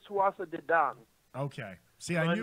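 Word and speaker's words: Tuatha Dé Danann: I believe, by the way, it's Tuatha De Dan.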